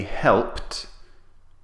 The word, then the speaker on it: helped: They help do the tidying up. So we omit the T sound at the end of helped.